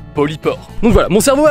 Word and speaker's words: polypore: long de la vidéo je nomme ces champignons poli fort alors qu'en réalité est bien ça se prononce polycor donc voila mon cerveau